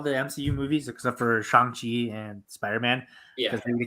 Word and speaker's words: Shang-Chi: But okay, first of all, Danny, it's pronounced Shang-Chi, right?